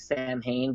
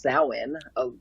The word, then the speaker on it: Samhain: So, yeah, as everybody knows, it looks like Samhain, but it's actually pronounced Samhain, believe it or not.